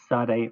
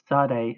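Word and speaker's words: צדי: Sade is pronounced ts as in boots.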